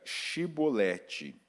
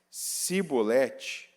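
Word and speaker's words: שיבולת: Se respondesse que não, diziam: então diga Shibolete. Se ele dissesse Sibolete, sem conseguir pronunciar corretamente a palavra, prendiam-no e matavam-no no lugar de passagem do Jordão.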